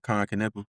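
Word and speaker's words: Kon Knueppel: Uh Khan Kappa.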